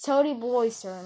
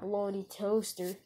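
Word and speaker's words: Toady Bloyster: Well, you said it right the first time, but the second time you said it all wrong. It's Toady Bloister, not Bloaty Toaster.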